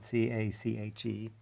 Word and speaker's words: cache: like a squirrel's cache of nuts it's spelled c-a-c-h-e pronounced cache and it just associates some inputs with